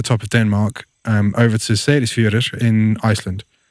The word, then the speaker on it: Seyðisfjörður: of Denmark over to Seyðisfjörður in Iceland. And I don't know if you got that pronunciation, but it's Seyðisfjörður.